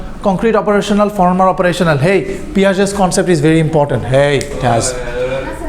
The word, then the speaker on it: Piaget: Yes, it's Piaget. Frenchman. Hey, not Piaget. It's a Frenchman.